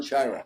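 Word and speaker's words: Sciarra: about how you'd compare, and I think I pronounced his name correctly. You had John Shiara at UCLA. John Shira, yeah.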